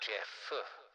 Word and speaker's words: Jeb: It's spelled Jeb, but it's pronounced Jeff.